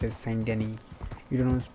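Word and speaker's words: Saint Denis: but in terms when you pronounce it you pronounce it send any you don't pronounced as so there are a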